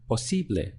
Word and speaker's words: posible: Posible. Three syllables. Posible. So this is the syllable before last here.